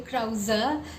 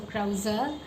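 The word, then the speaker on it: Krauze: pronounce his surname, and we got the official pronunciation. So yeah, it's Gabriel Krause, like the like her, so Krause.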